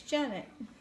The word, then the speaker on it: Janet: it's jeff yeah jeanette you said jeanette it's janet well i'm not good